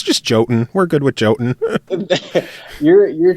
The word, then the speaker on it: Jotun: So it's just Jotun.